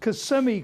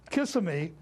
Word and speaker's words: Kissimmee: and two he pronounced kissimmee correctly everybody else in the world pronounces it kissamy and uh the reporter